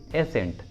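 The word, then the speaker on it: ascent: और एग्जांपल देखिए एसेंट, एसेंट, देखिए इसमें भी एस और सी एक साथ है तो सी को प्रोनाउंस नहीं करेंगे, इसलिए उच्चारण होगा एसेंट, एसेंट।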